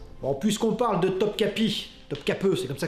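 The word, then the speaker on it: Topkapı: des sultans ottomans non puisqu'on parle de topkapi notre cap c'est comme ça que ça se prononce le grand palais des sultans sachez que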